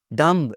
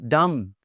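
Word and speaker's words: dumb: तो जनाब डम्ब, इट्स नॉट डम्ब, इट्स डम्ब।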